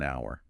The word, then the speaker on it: hour: but an apple in an hour even though starts with a consonant that silent h makes all the difference it's all about that